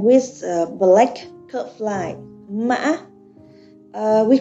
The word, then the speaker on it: mạ: You will see the word mã, okay, mã. With these toes, you should keep your voice as low as possible and short.